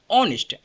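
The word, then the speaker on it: honest: नेक्स्ट word ऑनेस्ट। ऑनेस्ट क्या होता है? यहां ध्यान देने वाली बात होती है कि एच इसमें साइलेंट होता है।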